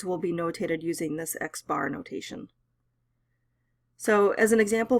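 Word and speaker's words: x̄: the symbol like looks like that and it's pronounced X bar if you're finding the mean of a sample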